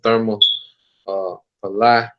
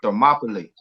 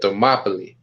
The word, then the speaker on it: Thermopylae: So I'm gonna get the war of Therma Palai, if I'm saying it right. But You say it's called Thermopylae. You talking about the 300 war? yeah, Thermopylae.